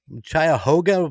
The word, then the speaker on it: Cuyahoga: How the hell do you pronounce it again? The Chattanooga River? The Cuyahoga Valley National Park?